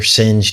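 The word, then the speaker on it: Seine: after they confess their sins to one another that they're actually able to escape escape and when they emerge they're on the sin river is how essentially it's pronounced this I believe is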